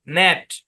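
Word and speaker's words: gnat: এজন্যই রুল সহ পড়াচ্ছি তাহলে জি যদি সাইলেন্ট থাকে এই শব্দের উচ্চারণ কি নেট সেকশন টু এর পড়া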